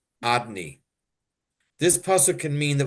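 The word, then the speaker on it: Adonai: The name Hashem Havaya is pronounced Adni.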